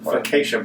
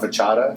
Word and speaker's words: focaccia: Focaccia bread. I'll call it fachada.